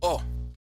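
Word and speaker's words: を: And then we have O. So uh typically it can be written in romai as w but it's actually pronounced as o just like oh know what I mean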